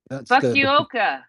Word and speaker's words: Fukuoka: Now, please, Sir Dom, give me an inappropriate Japanese name because I can't pronounce anything. Should we go with Fukuoka? Fukuoka.